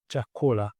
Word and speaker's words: chakula: And another word is chakula. That word, the word written is the way it is pronounced. And the stress is on the last but one syllable, which is ko.